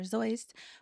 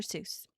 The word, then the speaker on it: Seuss: time is Theodore Geel, aka Dr. Zoist, more commonly pronounced much to his annoyance as Dr. Seuss. Although he did later come to accept the Englishized pronunciation, Dr.